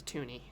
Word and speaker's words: toonie: so this is a toonie which is spelled like tune like toontown like cartoon it's it's looney but